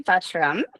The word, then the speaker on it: Butrum: Um, I am Lindsay Butram.